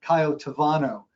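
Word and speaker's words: Cayo Tabano: but in Spanish that the letter B is pronounced with the V so it's actually coyote vano and you can see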